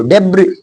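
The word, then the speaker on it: debris: Islet, islet, और इसको डेब्री डेब्री डेब्री, यानी कि सा नहीं बोलेंगे, डेब्री, है ना।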